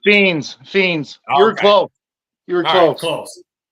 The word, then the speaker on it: Phenes: one first that's all right it's it's fiend fiends you're close you're close close yeah good enough